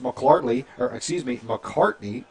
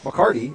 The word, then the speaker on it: McCarty: Same with Norman, their quarterback, Tyus McCartney, if I can say it right, McCarty, excuse me.